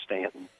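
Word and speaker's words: Staunton: That's so awesome that you know how to pronounce Stanton.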